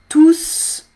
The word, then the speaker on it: tous: Les Français sont tous en quarantaine. Là, tous, il est tout seul, d'accord? Alors, il faut prononcer le S. Je ne sais pas pourquoi, mais c'est comme ça, c'est la règle.